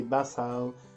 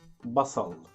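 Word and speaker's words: بصل: basel say it again don't say basil make the letter is heavy basa basal okay and lemon in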